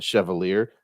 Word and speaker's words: chevalier: Because it's Chevalier. Chevalier. I didn't know it. That's why I said chevalier.